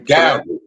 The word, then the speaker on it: Gad: When you Gad. It's Gad. But when you spell it out, it's ah.